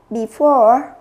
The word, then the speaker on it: before: Câu B chúng ta sẽ đọc là before, trọng âm nó sẽ rơi vào âm 2.